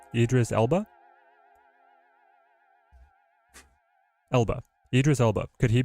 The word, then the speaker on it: Idris Elba: Idris Idris how do you say his name Idris elbow Idris Elba Elba Idris Elba could he be Doom chat